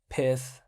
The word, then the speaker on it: Pyth: We take a look at also in the case of Pyth, right? It's spelled Python, but without on, so without on, Python minus on becomes Pyth.